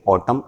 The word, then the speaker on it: autumn: यहाँ वो स्पेलिंग में ये कर सकता है कि एन ना दे, क्योंकि एन साइलेंट होता है तो बच्चों को लगता है ज़रूरत नहीं है, लेकिन ऑटम यही होता है।